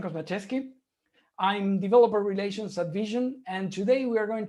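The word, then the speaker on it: VSHN: words about my company vision uh it's basically pronounced like the word vision hence the i in the logo we are in zurich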